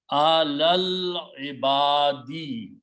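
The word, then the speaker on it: عَلَى الْعِبَادِ: You combine this lam with this lam and do not pronounce the alif in between, which becomes hamzatul wasl, a small swad, which means don't pronounce.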